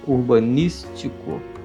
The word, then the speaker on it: urbanístico: um projeto urbanístico e esse acento indica um som a festa é a sigla da foto então se pronuncia com força urbanístico e os outros logicamente precisam ser pronunciado de forma fraca urbanístico futurista é construir ao